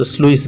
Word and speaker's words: স্লুইস: অনেকে আমরা উচ্চারণ সুইস গেট বলি। তো এটা মূলত স্লুইস গেট।